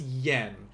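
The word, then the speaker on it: 円: i mentioned this before this is yen uh that y's they're not going to pronounce that but they're just going to say like n like 100 yen our next one this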